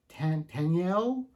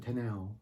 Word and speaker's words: Taniel: And then our third major character is Taniel. I pronounce it Tanel. Taniel. Tanel.